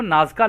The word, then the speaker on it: Nazca: तो दोस्तों इंग्लिश में इनको नाजका लाइंस बोलते हैं। यहाँ पे जो स्पेलिंग लिखी है ना, NAZCA, तो आप चाहें तो इसको चेक कर सकते हैं।